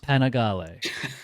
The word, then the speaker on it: Panigale: And because I know some people can't take a joke, I know it's pronounced Panigale.